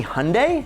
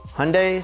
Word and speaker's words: Hyundai: to their sister company hyundai which rhymes with sunday so yeah say it with me hyundai sunday they have a 5 liter v8 to play with and it makes 420 horsepower 420.